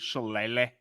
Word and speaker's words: Shillelagh: the name of this rivalry, the Jeweled Shillelagh, and you can never say it properly. There's only one way to say it.